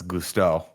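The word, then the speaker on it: Gusteau: it goes and then i looked at the spelling and i was like oh no it's gusto we'll say it like that i'll try i'll try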